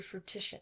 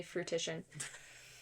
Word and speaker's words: fruition: wanted to come into fruition it's for me fruition fruition yeah I've been saying it wrong my entire life fruition yeah fruition sorry for anyone who's ever heard me say fruti so then he says